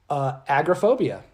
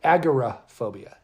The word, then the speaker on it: agoraphobia: on and we're going to be talking about Agra phobia which overall phobia always started called agoraphobia but